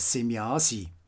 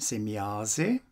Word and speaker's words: Semjase: Semjase is a name that is frequently mispronounced as Semjasi.